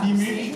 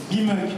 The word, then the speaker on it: Bimouk: Voici Rani Bimouk. Est-ce que j'ai bien prononcé votre nom? Ça va. Bimouk. Un peu touché, mais Rani Bimouk. Bimouk, voilà.